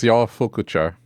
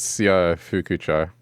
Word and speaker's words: Shofukucho: Okay, if you're asking me to pronounce the town in Yakuza, it's Syofukucho. Well done, Spyro. That's how you say it. Or sho. Like, it's easy to go sho, but in Japanese it's Syofukucho.